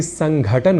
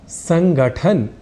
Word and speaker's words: संघटन: तो देखिए, हमने यह जान ही लिया था कि संघटन को संस्कृत भाषा के अनुसार संगठन या संगठन या संगठन कहना और लिखना अशुद्ध है।